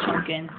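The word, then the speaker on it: Potemkin: oh say his name I don't remember cuz it's spelled poin but when they announce his name it's a chunin it's weird but most of the other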